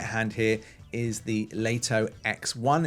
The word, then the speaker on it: Lito: This is the DJI Lito series, pronounced Lito.